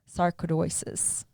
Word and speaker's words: sarcoidosis: And it's all of us that at whatever level it is, maybe it's not sarcoidosis.